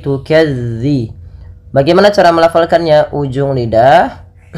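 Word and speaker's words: تُكَذِّبَانِ: dalal hati-hati teman-teman dilafalmelafalkan dalalnya jangan diganti dengan huruf Zai jangan tukazziban tapi tukadzi bagaimana cara melafalkannya ujung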